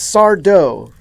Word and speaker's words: Sardo: involving magic featuring Mr sourdough that's sardo no Mister Accent on the dough when the hell did